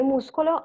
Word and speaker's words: muscolo: And then schiaffo, scuro e muscolo are hard sound, suono duro, that sound like sk.